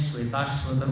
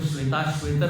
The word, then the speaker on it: श्वेताश्वतर: कई लोग इसको श्वेताश्वेतर बोल देते हैं। हाँ, इसका है श्वेत अश्वतर, दोनों की संधि हुई है तो बना है श्वेताश्वतर। ठीक है, बोलिए जरा। हाँ, श्वेताश्वतर।